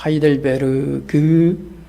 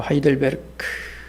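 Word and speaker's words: Heidelberg: 하이델베르 그라고 쓰지만 마지막 그 유성음을 크로 가볍게 발음합니다. 그래서 하이들베르그 그렇게 말하지 않고 하이들베르크 그래서 이걸 영어로 하이델베르그 카키이라고 쓰지만 우리는이 독일 원문에 가깝게 하이델베르크 하이델베르크 카테키이라고 발음합니다.이 하이델베르크 요리 문답은 세 개의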